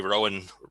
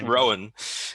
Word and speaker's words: Rohan: He got 0 weeks, and Gary Rowan. I keep saying it wrong. It's like the Lord of the Rings, the Riders of Rohan.